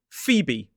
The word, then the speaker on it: Phoebe: It is Phoebe. 2 syllables, stress on the first.